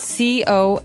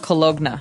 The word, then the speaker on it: cologne: It ends with, it's spelled C-O-L-O-G-N-E. So you don't really say the G. It's not cologne. Right. It's cologne.